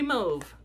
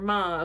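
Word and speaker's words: mauve: and this color is country mave or Mau however you want to pronounce it I pronounce it mave I'm going to keep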